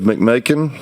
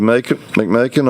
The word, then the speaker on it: McMakin: We'll start out with Representative McMakin to wrap up his House Bill 97 from last week. So, Representative McMakin, on your bill, sir. Like bacon. Rhymes with bacon.